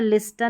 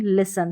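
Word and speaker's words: listen: Paschen नहीं पासन यहां पर विस्टल नहीं विसल और हैस्टन नहीं हैसन यहां पर लिस्टन नहीं लिसन तो इस तरीके से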